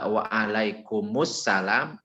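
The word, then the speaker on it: وعليكم السلام: Jadi waalaikumsalam, mimnya itu pakai domah, kemudian masukkan ke dalam sin.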